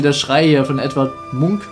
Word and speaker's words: Munch: Schrei hier von ETW Munk Munch Munk ich glaube Munk wird ausgesprochen ne so noch ein